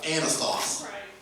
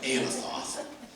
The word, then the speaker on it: Anathoth: While he's in prison, God says, I want you to buy the field of Anathoth. And that is how you say it. I practiced that one, Anathoth.